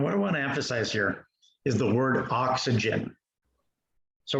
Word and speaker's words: chi: pronounces it Chi or Chai, and that's wrong. It's not pronounced like that. It's pronounced he, like he is a man.